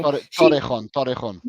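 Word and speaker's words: Torrejón: It's spelled Tororejon. Oh, you talk about Marta Torrejon. Terrajon. Yeah, Torrejon.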